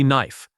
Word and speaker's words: knife: The K at the beginning is never pronounced. It is simply knife.